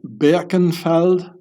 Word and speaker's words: Birkenfeld: So here you can read about Bradley Birkenfeld I pronounce it in the original Yiddish, German way.